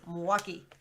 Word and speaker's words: Milwaukee: I do, although I'm very keen to Wisconsin or Milwaukee, pronounced with 3 Yeah. syllables. Like, no, it's 2 syllables, Milwaukee. And Wisconsin.